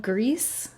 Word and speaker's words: Gris: I'm all for it so you do say it like grease huh well I'm still gonna probably call it Gris though he did pronounce